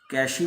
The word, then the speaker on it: cache: Next आता है that is called how द कैश memory works. कैशी भी बोलते हैं कई बार, कैश भी बोलते हैं, दोनों ही प्रोनाउंसिएशन सही है।